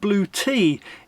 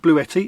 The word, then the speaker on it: Bluetti: It's pronounced Blue Tea if you go to their YouTube channel. Sounds weird, but hey, well, there you go. It's not Bluetti, it's Blue Tea.